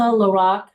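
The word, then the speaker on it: LaRocque: name and your title my name is Lorac I'll spell it l i s a l a capital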